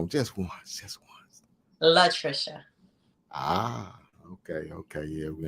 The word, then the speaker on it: Latricia: correctly uh pronounce it for him one time pronounce it for him just once just once love Trisha ah okay okay yeah we're in the house